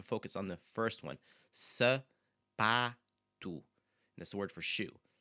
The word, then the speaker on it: sapato: I want you to focus on the first one, sapato. That's the word for shoe. Sapato. Okay, the pa part, that's the accentuated syllable because it's the second to last syllable.